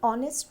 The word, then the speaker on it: honest: Before a word beginning with a silent h, as an hour, an honest man. Here h is silent.